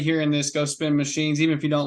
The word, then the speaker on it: MCHNZ: us up machines m-c-h-n-z it's spelled like that way and it's pronounced machines just like machines look us up we'll